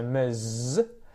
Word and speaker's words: Ms: miss, whereas ms is often said with the Z sound at the end there, definitely, so ms, and it's a schwa, I think, off the top of my head, so we don't really pronounce any vowel there, so it's almost like how it's spelt, ms, ms, sort of almost like an E or a U kind of sound, ms, it's the schwa.